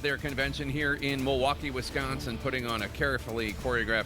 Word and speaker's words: Wisconsin: Republicans wrapping up the second night of their convention here in Milwaukee, Wisconsin, putting on a carefully choreographed show of party unity as the Democrats remain divided over the future of President Biden's candidacy.